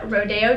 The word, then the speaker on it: Rodeo Drive: Oprah in Rodeo Drive I actually said it right this time instead of Rodeo Drive because I'm from Texas and that's how I say it but whatever I'm gonna say it supposed to be said Rodeo Drive last but not